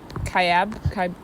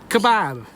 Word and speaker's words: Kaibab: South Kaibab. Kebab. It's not kebab. The ranger told us it wasn't kebab. She made fun of me for calling it kebab.